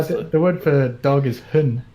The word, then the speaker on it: hund: don't pronounce the D.